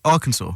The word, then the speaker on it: Arkansas: It turns out Vin didn't think Arkansas was the name. He thought it was Arkansas. Turns out it's pronounced Arkansas.